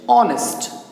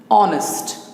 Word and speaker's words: honest: know that honest here h is inactive here we don't pronounce h honest honest right so he's the